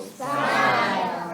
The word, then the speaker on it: spile: Spile. Excellent. Now it rhymes with smile, an easy way to remember.